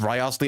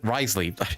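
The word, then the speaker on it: Wriothesley: revealing that or does rosley already know not rosle Risley I already know how to pronounce the name yet I still say rosley it's Risley it's Risley space Risley you might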